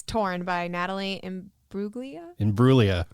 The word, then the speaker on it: Imbruglia: So I went back, and it's "Torn" by Natalie Imbruglia. Imbruglia. You got close. I was close. Yeah. Okay. You just don't pronounce the G. Yeah. It's a silent G.